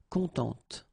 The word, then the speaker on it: contente: Of course, if you put the feminine form, then you will have to add this E, and then phonetically it will be a bit different. It will be contente.